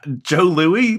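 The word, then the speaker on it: Jos Louis: can you pronounce this I Joe Louie that's that's how I've always pronounced them i think the S is silent hmm huh yeah this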